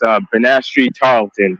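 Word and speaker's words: Banastre Tarleton: It's Benastri Tarleton.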